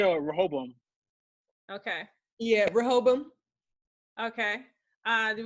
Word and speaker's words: Rehoboam: It's a weird thing with the tongue because it sounds like they're saying an L, but they're not.